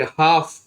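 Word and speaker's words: half: ठीक, वैसे HAL पे हाफ, आपने सुना होगा हाफ KG दूध दे दो,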